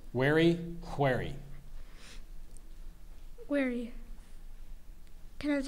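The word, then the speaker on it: wherry: i s ex aesus that's correct thank you wary a long light rowboat made sharp at both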